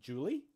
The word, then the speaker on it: July: how we know that July was pronounced Julie like the girl's name until about a hundred